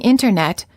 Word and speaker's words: internet: Clinton are famous Americans tea after the tea after an N or an noon sound is often silent instead of saying Internet you will frequently hear Americans say internet this is fairly standard speech and it's not considered overly casual or sloppy speech words for practice interview